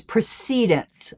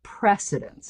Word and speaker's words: precedence: And then he said, finally, and I know this one's a bit contested, the recommended pronunciation of precedence is precedence, not precedence.